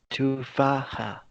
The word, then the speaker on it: تفاحة: tufaha, So here we have ضمة. It's not تفاحة. It's short. It's not a long sound. It's a short sound.